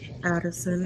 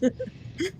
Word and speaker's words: Adelson: Addison. It's Adelson. Actually, it's spelled right, I said it wrong.